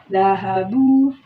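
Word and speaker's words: ذهبوا: Baknya ini disukun, kemudian digandeng dengan wawu, kemudian ditambahin alif. Jadi cara bacanya dahabu.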